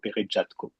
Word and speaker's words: Peretjatko: So, my name is Peretjatko, or Peretjatko, as you said, because Peretjatko, it is a French pronunciation, and Peretjatko, it is a Ukrainian one. But I'm French, and the French pronunciation is the official one, so Peretjatko.